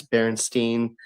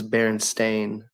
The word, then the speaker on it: Berenstain: And one for one, I say this really honestly, one for one, everybody says Berenstein, Berenstein. No one ever says Berenstain, ever.